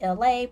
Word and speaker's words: Elay: It's me, Elay, pronounced like LA like the city.